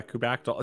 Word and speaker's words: kubectl: Like a pterodactyl. Yeah, kubectl. See, Layla, and again, I've not heard that pronunciation before, but we've got a new one.